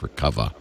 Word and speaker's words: Recuva: And they also like a program, I don't think it's free, called Recuva, or I guess that's supposed to be pronounced Recuva.